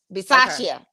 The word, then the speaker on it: Bisaccia: Is it Bisaccia? Bisaccia. That's it.